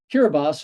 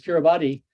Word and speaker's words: Kiribati: island of New Zealand kiribas are another way of pronouncing it is Kiribati has a hundred and